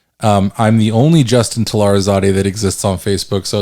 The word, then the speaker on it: Talarizadeh: well facebook i mean my last name is talarazade so uh i guess that's probably should spell it yeah so it's t a t-a-l-a-r-i-z-a-d-e-h um i'm the only justin telarazade that exists on facebook so it's pretty easy